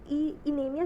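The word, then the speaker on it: anemia: इनेमिया वैसे correct pronunciation तो इसकी एनीमिया होनी चाहिए, बट हम इनेमिया ही बोलेंगे क्योंकि कन्फ्यूजन हो जाएगी, इंडियन एक्सेंट में ही बोलेंगे अपने।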